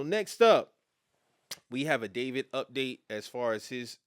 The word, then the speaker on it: D4vd: Uh, in a courtroom on Thursday, a prosecutor claimed that singer uh, David, but his name is spelled D 4 V D.